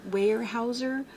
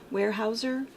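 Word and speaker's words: Weyerhaeuser: um uh uh way warehouser warehouser warehouser that's how you say it warehouser the um the Logging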